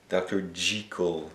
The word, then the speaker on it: Jekyll: Apparemment qu'il faut prononcer Dr. Jekyll and Mr.